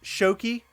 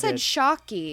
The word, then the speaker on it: Shoky: yeah but guys like and subscribe so it's pronounced shoki shoki yes I would have corrected you a long time ago okay I feel like he did shocky I know I said I think when you